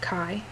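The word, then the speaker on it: Caye: as being a friend, her name was Kai. C-A-Y-E, but pronounced Kai.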